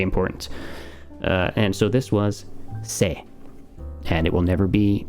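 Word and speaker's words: せ: And so this was se. And it will never be pronounced anything other than se. It will never be se or si or se. It's se.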